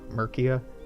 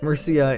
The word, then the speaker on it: Murcia: yeah let's see Mircea oh you're pronouncing like America murkier yeah Murcia is a real place it's not America looks a lot like